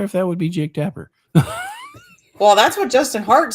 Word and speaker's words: Tapper: that would be Jake Tapper well that's what Justin Hart seems to think and well Chamberlain says rhymes with zapper LOL could it possibly